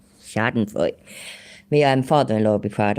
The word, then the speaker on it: Schadenfreude: I didn't say fried, I said Freud. Schadenfreude. Schadenfreude.